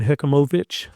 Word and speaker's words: Hechimovich: good friend of mine Brian hechimovich moich you have to put the emphasis on Mo that's how he pronounces his name he allows his staff